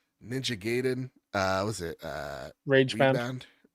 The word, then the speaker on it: Ninja Gaiden: Is it Ninja Gayen or Ninja Giden? Ninja Gaiden.